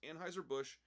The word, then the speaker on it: Anheuser-Busch: So, first off, Hello Yassine didn't understand that it's pronounced Anheuser-Busch.